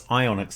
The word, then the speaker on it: psionics: No, it's ionics. The PH is silent.